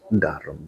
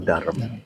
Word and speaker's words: Durham: kalau di Inggris biasanya darem I bet darem ya jadi tulisannya durham ya Tapi bacanya adalah darem gitu ya enggak jadi ke